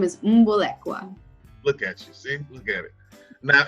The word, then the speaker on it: Mbolekwa: mess it up yes my last name is moon Bullock wow look at you now and that originates